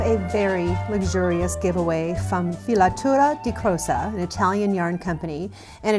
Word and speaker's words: Filatura di Crosa: if you aren't familiar with filatura de crossa you can also just call it villatura de crossa if you're an english speaker but i actually asked an italian speaker to help me with the pronunciation on this so i'm pretty proud of